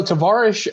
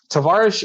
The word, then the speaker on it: Tavarish: what what that means so tavaresh um actually it's phonetically incorrect um tavaresh in Russian means like comrade or friend or like Jude you know that